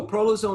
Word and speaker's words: prolozone: therapies at your clinic is it prolozone is that how you pronounce it so prolozone is a very good illustration